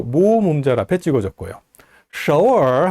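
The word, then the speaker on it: 首尔: 서울 서울이라고 할 때 서, 그 다음에 얼 이렇게 됐는데요. 삼성 글자가 두 개 연달아 나와 있으니까 앞에 발음을 제2성으로 올려서 서울 이렇게 발음합니다.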